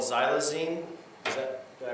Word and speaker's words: xylazine: So my understanding one group got a drug called xylazine. Is that did I pronounce that right?